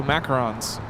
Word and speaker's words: macarons: Macaroons are made with coconut and are eaten during Passover. Oh. So macarons. Macarons. Some of you are saying a macaron is the French president. I've been saying it wrong this whole time.